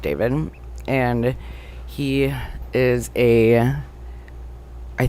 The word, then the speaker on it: d4vd: So, this guy David, his name is spelled like DV4 D, but it's pronounced David.